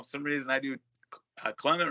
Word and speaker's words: Clement: Clement. Yeah. Okay. I got to go with that then. Yeah. I say, I don't know, for some reason I do Clement wrong.